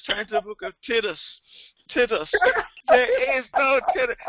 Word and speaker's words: Titus: to the book of Titus. Titus. There is no Titus. There ain't no Titus in the book. Hey, Sandra. There's Sandra Inman. Hey, Karen. There is no book of Titus. It's Titus. And it's Job.